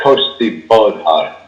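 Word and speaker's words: cóiste bodhar: It says here, uh, coast bullet is how it's pronounced. Uh, an immense black coach mounted by a coffin and drawn by headless forces driven by the bubahan.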